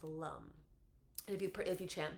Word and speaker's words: lam: help or the uh seed sound of the root chakra is Lum l a m and is um pronounced Lum if you if you